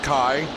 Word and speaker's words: Kai: Putting a lap on Kai Bomberry, and Blake Bomberry messaged me to say indeed it is Kai, pronounced like pie, because that was the easiest way to get you to understand.